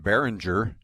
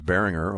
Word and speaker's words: Berringer: or a lot of people still today they call him behringer you know so i looked at that roster i thought i got to find out how you pronounce it and so i knew was bearing her all the way but um you know